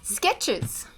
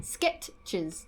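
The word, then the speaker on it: Skechers: How do we spell it? Oh, S K E T C H E S. E S. Yeah. No R.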